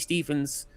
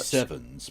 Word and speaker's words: HITC Sevens: Really great HITC Stevens video about all of the crimes of Jim Ratcliffe in charge of Manchester United. HITC Sevens, please. 7, sorry.